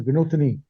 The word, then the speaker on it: Vinothini: Vinothini, you said your name is to be pronounced as Vinothini.